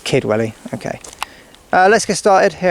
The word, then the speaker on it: Kidwelly: Just Kidwelly. I don't know, because it says it's pronounced differently. It's It's almost the same thing. Yeah, so it's Kidwelly.